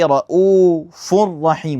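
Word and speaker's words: رَءُوفٌ رَّحِيمٌ: So, we're going to say ra'ufur rahim, right? Cuz the raw is the second letter. It's mushaddad. And we're basically combining them and we're saying the same as the second. Ra'ufur rahim.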